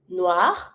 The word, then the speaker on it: noir: The colors, black, noir, noir. Same pronunciation because masculinely it's finishing with the R. I do pronounce it. Feminine, I don't pronounce the E. So I'm going to pronounce the R for both.